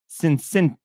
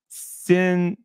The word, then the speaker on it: Cinquecento: The Fiat Cinquecento. There's no. Fiat Sin. No, no, there's no N. Cincentio. All right. Nope. All right.